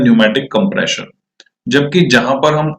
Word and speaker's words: pneumatic: हैं, दूसरा होता है न्यूमैटिक। न्यूमैटिक की स्पेलिंग निमोनिया की तरह जो है पी से स्टार्ट होती है, PNEUMATIC।